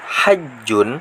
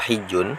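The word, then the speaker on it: حج: Qauluhu hajjun atau hijjun bermula ucapan musonnif yakni hajjun itu bi fathil ha'i dengan terbaca fathah haknya wa kasriha dan kasronya hak bisa bacanya hajjun atau hijjun.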